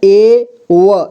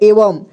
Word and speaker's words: एवं: अं की मात्रा तो यहां पे एवं इसे वम पढ़ेंगे ठीक है यानी कि अम की मात्रा इसमें लगाएंगे तो इसे एवं पढ़ेंगे एवं का मतलब होता